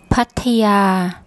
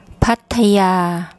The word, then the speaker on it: Pattaya: yak Y consonant and this final vowel is actually long part a yeah so once again I'll get my wife's to give you the correct pronunciation Pattaya Pattaya Pattaya there are lots of